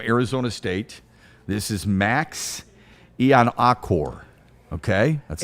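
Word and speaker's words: Iheanachor: This is Max Ian-Akor. Okay? That's how you... Achor. Ian-Akor. Sure. C-O-R-E is how I've been told it's pronounced.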